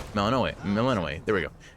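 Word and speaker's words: Melinoë: So, one level of aspect of melanino. Melaninoi. Melaninoi. There we go. It's a little hard for me to pronounce, admittedly.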